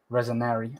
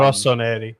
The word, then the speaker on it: Rossoneri: Um, Rossonary. Rosary. There we go. With the Italian twine on it.